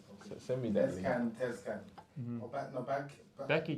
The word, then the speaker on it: Tezcan: And there's a couple of videos actually on YouTube by, I need to see his name, I'm not pronouncing it properly. Send me that. Tezcan. Mm-hmm. Becky Tezcan.